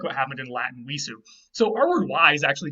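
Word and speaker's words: wīs: what happened in Latin visu. So our word wise actually just comes from the weid root. It was originally pronounced vis in Old English, which sounds more like the weid root.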